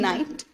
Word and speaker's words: night: So in night, we can hear the sound of night, N-I-T, right? We are not speaking out GH sound. So GH is silent there.